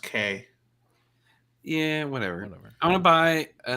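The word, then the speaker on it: Kei: Yeah, I actually want to buy a Kai car. that'd be cool. I I want to think buy. it's pronounced K.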